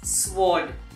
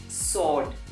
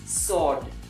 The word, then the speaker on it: sword: to tell you that the letter w in this particular word is silent so we do not say sword but we say sword yeah it is sword aha most of us